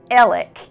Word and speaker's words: Alex: apply to you so his name is pronounced Alec even though it's spelled a-l-e-x but whatever I'm over it elec has been convicted and